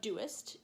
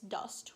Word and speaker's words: dost: park yes the dust it's not thou doest its dust one syllable you shall is thou